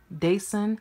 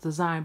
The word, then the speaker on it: Dasein: patent faux leather handbag from design some people pronounce it dayson but it's really pronounced designed but it's only spelled different is das ii